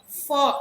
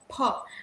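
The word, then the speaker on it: फ: So a lot of people pronounce fa wrong. It is actually pa. Yeah. Ha. You have to take the help of both of your lips in pronouncing these. We usually get on the English side and we say for, right? Because fruit, fail, fall. So we say fa, but in Sanskrit it is pha, and that is why it belongs to Oshtya.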